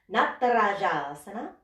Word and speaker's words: Natarajasana: Because Natarajasana, that's how you say that pose, by the way. Na, ta, ra, ja. Easy. It's all the same syllable. Na, ta, ra, ja. Natarajasana.